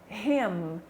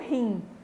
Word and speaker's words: him: E com som de M, him, não him, que him é him em português, que a gente pode usar o M assim, mas em inglês não, tem que ser bem pronunciado, ok?